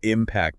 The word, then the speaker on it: impact: So the I impact of the storm was huge. But the storm will impact the coast.